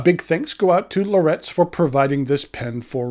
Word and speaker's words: Laurett's: A big thanks go out to Lorettes for providing this pen for review.